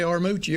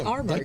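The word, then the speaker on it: Armuchee: And I play a bluegrass festival every year, and we call it Armurchie. It's spelled Armoochie. Do not say Armoochie over there. It's Armurchie. They take it personal.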